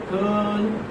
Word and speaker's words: curl: Curl, curl. How do you transcribe like this? Curl. R is not pronounced.